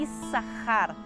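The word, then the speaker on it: Issacar: Léia que se chama esses Rara ou como a gente fez um se o nome dele hoje em dia mas lembrei que o bíblico a pronúncia correta é is a rare então e sacar tem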